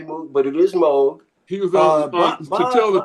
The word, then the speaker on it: Moog: And when you speak of Bob Moog, actually Moog is the correct pronunciation of his name. Moog, yeah. Moog, not Moog. I know a lot of people say Moog, but it is Moog.